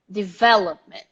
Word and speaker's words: development: to remember the stress development development the stressed syllable is the v development development and so